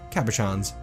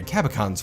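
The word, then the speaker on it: cabochons: of rectangular gabbro cabouchins I learned how to pronounce cabouchins I've been pronouncing a Kappa Khan's forever what a dum-dum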